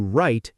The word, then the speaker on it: write: You'd say, "I need to write an email." The w just melts away.